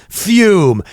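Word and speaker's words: FÜM: of ours from Canada, Fume. You've heard about them. We've been telling you about them. Fume, it's pronounced fume, but it's got 2 dots over the U, which is very cool.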